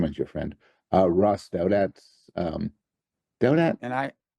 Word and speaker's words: Douthat: your friend uh Ross doat um doat and I I continue to insist that it's pronounced do it do it okay um I prefer doubt it I like doubt it